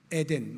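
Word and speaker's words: עדן: 히브리어로 복락이라는 뜻을 가진 단어인데 발음을 하면 에덴입니다. 에덴 많이 들어보셨죠? 에덴 동산 할 때 그 에덴과 똑같아요.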